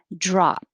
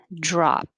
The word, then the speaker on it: drop: up tongue volume volume drop drop you won't hear the p unless there's a vowel following it like don't drop